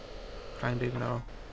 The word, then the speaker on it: Llandudno: I can't pronounce it myself now. The Llandudno. Llandudno.